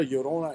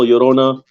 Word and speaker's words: Llorona: you give a brief description of what a yorona is for the people that don't know watching